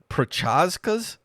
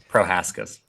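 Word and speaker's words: Procházka: fun UFC 303 aric Alex Pereira denies hiri pazas is that how you pronounce that prohaska prohaska request to not use magic for light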